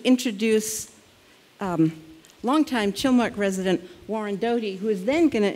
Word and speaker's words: Doty: Warren, is your last name pronounced Doty? Doty.